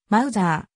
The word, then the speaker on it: Mauser: に基づいている航空界および戦後防衛産業界では実際に離されている発音に近い mouser あるいはかつての正式